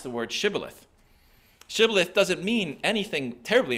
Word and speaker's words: shibboleth: the aphramites pronounced shibboleth shibboleth um or sibilith they pronounce it sibilith the ephraimites they didn't have the sh sound in the way that they pronounce things um so when the aphramites